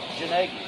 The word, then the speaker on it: Gnagie: Gnagie? Gnagie.